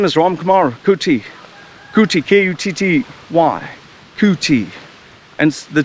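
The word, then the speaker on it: Kutty: My name is Ram Kumar Kuti, K-U-T-T-Y, Kuti. And the T and the Y is silent.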